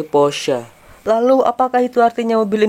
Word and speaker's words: Porsche: sama yang Porsche B saya baru tahu ternyata dibacanya bukan Porsche tapi porsa Lalu apakah itu artinya